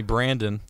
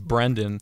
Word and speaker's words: Brendan: He would always call me Brandon when it's Brendan.